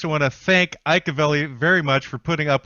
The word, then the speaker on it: Avelli: That's Avelli with two L's. So don't pronounce it the Mexican way, everybody, or you'll wind up in the wrong spot.